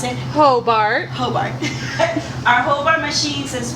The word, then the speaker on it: Hobart: How do I pronounce it? Hobart.